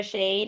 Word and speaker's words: Shea'd: support yeah um for shade you can find us first on the app store um so it's spelled s s-h-e-a like shea butter and then apostrophe d um so you can